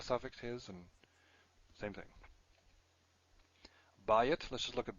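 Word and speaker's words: בַּיִת: Bayit, let's just look at bayit again. Oh, I should. Did I put this here? Ayin. These are all stressed in the first syllable, which is why the diphthong is there.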